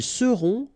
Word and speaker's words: seront: end, et serez, ils seront, final T not pronounced, elles seront.